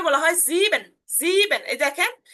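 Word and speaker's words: sieben: সেহার উচ্চারণটা ক সেহা এস কত একটা উচ্চারণ আসতেছে একটা সেক্স আচ্ছা এরপর হচ্ছে সেভেন যেটা সেভেন কে বলা হয় জিবেন জিন এই দেখেন ই এবং এ আছে যার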